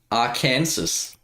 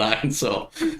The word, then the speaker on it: Arkansas: to say the exact Aransas Arkansas isn't it pronounced Arkansas it's definitely pronounced Arkansas it's definely Arkansas it does it get